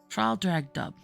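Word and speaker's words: Traldragdubh: It contained a warrant for conducting me and my retinue to Trial Drag Dub, or Trildrogdrib, for it is pronounced both ways as near as I can remember, by a party of 10 horse.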